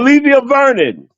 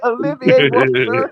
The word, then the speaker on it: Olivier Vernon: But what I'm saying it just felt like when even with the offensive line, Olivia Vernon.